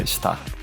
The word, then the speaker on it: STRR: E também podem me encontrar no Spotify, em qualquer plataforma de streaming, STRR tudo maiúsculo, que se pronuncia Star.